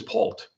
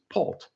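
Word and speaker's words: Paultre: t r e, but you don't pronounce the r e. It's Pult.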